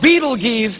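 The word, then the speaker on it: Betelgeuse: heard about this star it's called Beetle geese or Beetle Juice you can pick your pronunciation I'm obviously going with Beetlejuice and Beetle Juice is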